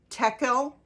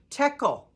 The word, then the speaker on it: Tekel: This is the inscription that was written: Mene, Mene, Tekel, Parsin. So it's spelled M-E-N-E, Mene, comma, many, M-E-N-E, comma, Tekel, Tekel, comma, Parsin, Parsin. Here's what these words mean.